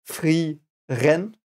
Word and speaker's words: Frieren: So you have the I and the E. It is pronounced E, like it would be a double E, I think, in English. The same sound you make there. So it's Frieren.